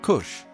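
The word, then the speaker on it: kos: Co, pronounced kush.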